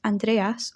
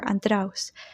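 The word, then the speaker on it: Ἀνδρέας: he spent following Jesus in Greek his name is pronounced Andreas or andraus however this name in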